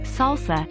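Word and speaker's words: 설사: to try out their salsa salsa pronounced salsa in korean is diarrhea number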